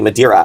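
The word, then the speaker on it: Madeira: Um the um excuse me madiraa I don't know why I pronounced that wrong.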